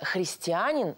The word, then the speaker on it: христианин: Христов христианин Да друзья слово христианин по церковнославянски звучит именно так с ударением на а Ребята вы можете взять